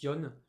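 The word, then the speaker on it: よん: Bon, déjà de base, 4, quand on l'utilise avec un classificateur numéral, en général on le prononce yon.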